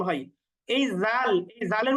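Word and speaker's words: ذال: টান দিয়ে উচ্চারণ করব পরেরটা হচ্ছে জাল জাল এটাও আমরা টান দিয়ে উচ্চারণ করব জাল জালের উচ্চারণটা একটু হালকা করে পাতলা উচ্চারণ করতে হবে জাল জাল এরপরের বর্ণটা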